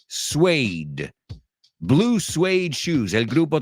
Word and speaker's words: suede: Porque se escribe suede. O sea, si tuvieras que pronunciarlo al mirarlo, wow. So, suede.